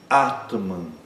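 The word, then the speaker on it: आत्मन्: Ah, outra palavra, atman. Atman. Primeiro também longo, o segundo é curto.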